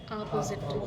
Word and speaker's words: opposite: तो स्ट्रेस कहाँ पे दे रहे हैं, Opposite. अपोजिट कर दे रहे हैं उसको, ठीक है। और correct pronunciation is ऑपोजिट। Opposite.